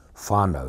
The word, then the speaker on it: whānau: Whānau is spelled W-H-A-N-A-U.